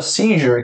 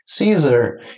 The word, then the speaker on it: seizure: Sem contar que você também pode recuperar notas como pronúncia, como a palavra seizure, que é uma penalidade muito comum de pronúncia que as pessoas falam Caesar.